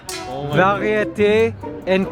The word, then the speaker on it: variété: Saveur, Oh my variété, and confort.